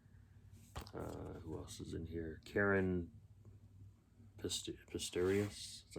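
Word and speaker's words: Caren Pistorius: Karen Pistorius, that's how you say her name.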